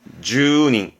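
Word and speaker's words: 住人: 아니라 주민을 말하게 됩니다 발음 또한 주닝 주닝이라는 건 주민을 의미하게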